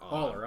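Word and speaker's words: Allar: Aller, I'm sorry. Yeah. Not Alar.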